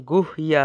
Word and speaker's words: গুহ্য: হৃদয় শব্দের উচ্চারণ হৃদয় ও গুহ্য শব্দের উচ্চারণ গুহইয়া হয়ে থাকে।